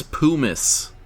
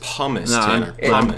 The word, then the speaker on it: pumice: it is ah uh that's Pumas I should I should not give you the point for pronouncing it wrong but I'll give it to you it's pumice keep pronouncing it you're wrong it's promise it